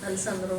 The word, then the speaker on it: Alessandro: Alessandro, right? Sí. Yes, así estoy pronunciando bien.